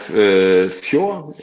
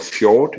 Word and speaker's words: fjord: We have fjord, as it's pronounced in Danish, or fjord in English, which is these where land go in, or the ocean goes into a land.